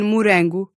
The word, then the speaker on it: morango: When a single R shows up in between two vowels. As in morango, or caro.